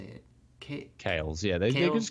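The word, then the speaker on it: Kailh: or kick how do you say it okay kales yeah there was called kales they hold kales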